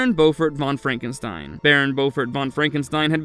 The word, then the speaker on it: Frankenstein: Igor is surprised to learn that this is Frederick Frankenstein and not Frederick Frankenstein.